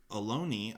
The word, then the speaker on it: Ohlone: know I one was unsure how to pronounce Aloni knives I didn't know if it was alone or alone year you know how it was pronounced but alone II I've come to learn